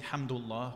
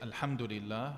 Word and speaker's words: alhamdulillah: they say it correctly we don't say hamdullah we say alhamdulillah right they say this